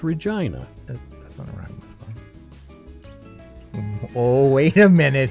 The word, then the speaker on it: Regina: jokes are you and the capital that rhymes with fun capital of Saskatchewan is Regina that's oh wait a